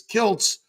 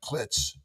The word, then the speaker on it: Kiltz: So I added a T so they pronounced it properly, which Kilz is Kilts. But now they call me Dr. Klitz.